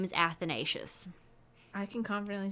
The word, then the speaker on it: Athanasius: nate athanasius i looked it up in practice athanasius i'm so sorry if your name is athanasius i can confidently say i've never met somebody